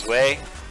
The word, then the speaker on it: Zwei: I don't know if you pronounce it Zwei, or if it's Zwei, or what, but I pronounce it Zwei.